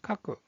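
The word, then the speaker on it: 書く: 자, 쓰다라는 뜻을 가지고 있는 이 한자의 발음은 카쿠, 카쿠.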